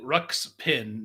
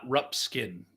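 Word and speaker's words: Ruxpin: of course Jenny says it's Teddy rucks pin not rup skin what ruin oh you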